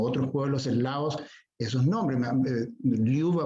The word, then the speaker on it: Ljuba: Liuba, por ejemplo, Liuba, la J es I, la R es E.